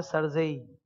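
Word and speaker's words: CERSAI: तो ये लोग क्या किए, प्रोनाउंसिएशन को इजी करने के लिए सर्जेई बोल दिए. ठीक है, सी से सेंट्रल, ई से कुछ नहीं, आर से रजिस्ट्री, सही, एस से सिक्योरिटाइजेशन, ए से एसेट रिकंस्ट्रक्शन. अब एनफोर्समेंट ऑफ सिक्योरिटी इंटरेस्ट का खाली आई उठा लिया, प्रोनाउंसिएशन में इजी रहेगा सर्जेई.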